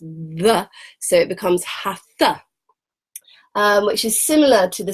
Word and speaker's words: Hatha: So it's a Sanskrit word, and the word, when you translate it into the English language, has this dot under the T. And when you have a dot under a letter, it means put your tongue to the roof